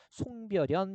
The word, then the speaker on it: 송별연: 우리가 수십번 외웠어요 그죠 얘도 송별 더하기 연의 구조로 되어 있지만 얘는 니은 첨가의 예외 그래서 그냥 연에서 송별연 이렇게 발음하게 됩니다 확인하시고요 자 표준 발음법에